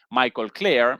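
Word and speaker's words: Michael Klare: Perdón, no presenté como la vez pasada el nombre de este señor Michael Claire. Esa la pronunciación eh correcta en Tom Dispatch, una publicación crítica de la izquierda estadounidense.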